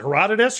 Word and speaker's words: Herodotus: anthropocene okay wait and how do you pronounce Herodotus is it Herodotus or something else you've got it right erotica okay um it's